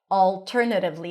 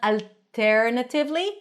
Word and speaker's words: alternatively: It's not alternatively, but alternatively. If that's difficult for you, pronounce whatever L you're used to pronouncing. It's still going to be clear. Primary stress is on ter, alternative, flap T, ly.